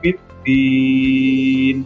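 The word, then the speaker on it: بالدين: Nah, ini ada dal biddin kasroh bertemu dengan ya sukun, ini kan mat. Nah, ini mat yang ada pada ya sukun dan kemudian diwakofkan. Maka cara membacanya aro'aital ladzi yukadzibu biddin. Biddinnya dipanjangkan. Boleh 2, boleh 4 atau 6 harokat.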